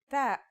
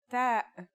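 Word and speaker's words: ت: The pronunciation is like the English T, except you should release your breath with a strong burst of air. Try it. Ta. Here's how to write the isolated version. Ta.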